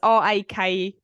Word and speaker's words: rakija: Yeah, it's not Reiki because that is a holistic. He had a bottle of massage. Yep. I think it's just Raki. Raki. It's Rakija, but I think it's pronounced Raki.